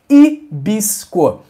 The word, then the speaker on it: hibisco: Nosso 3º chá, que é um dos meus preferidos, a cor dele é linda, é o chá de hibisco.